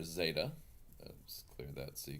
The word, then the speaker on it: zeta: work with this tablet Zeta and again quickly on pronunciation technically it's more of a DZ sound like as a de but yeah the letter